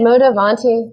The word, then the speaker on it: Modavanti: Is that how I pronounce it? Modavanti, yes, meaning fashion forward, is really a sustainable fashion and wellness brand.